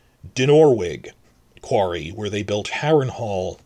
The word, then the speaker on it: Dinorwig: Dinorwig Quarry, where they built Harrenhal, stresses on the second syllable.